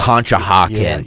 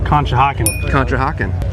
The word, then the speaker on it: Conshohocken: No, this is they asked some of the golfers to pronounce some of our, like the Schuylkill River, the cities, yes. Conshohocken, places like that.